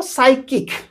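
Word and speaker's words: psychic: उपनाम कोन पढ़ा जिवो साइकिक टी को साइलेंट करके साइकिक एस वाई सी साइक किक ओके साइक किक आई साइकिक एठी आईटा रहिबो तो देखंतु पी को साइलेंट करिकरी देखंतु साइकिक ओके साइकिक आर अर्थ होची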